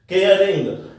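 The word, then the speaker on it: caring: लेकिन जब मैंने ई को हटा के आई एन जी प्लस कर दिया इसमें तो फिर मैं इसको जो कैसे प्रोनाउंस कर रहा हूं, केयरिंग केयरिंग, र को मैं बोल रहा हूं, क्यों बोल रहा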